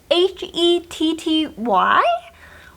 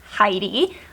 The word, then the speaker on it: Hetty: It's Hetty, which I pronounce it Heidi, but I think it could be Hetty.